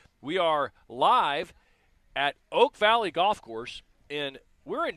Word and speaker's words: Oak Valley: are live at Oak Valley Golf Course, and we're in Davie County.